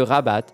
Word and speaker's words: Rabat: plus du côté de Rabat ça fait un peu Dubaï j'espère que j'ai bien prononcé rabat je crois qu'on prononce le T bref poupette Kenza n'a